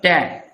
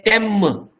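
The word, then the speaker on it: ते: You cannot say tem. No. Te.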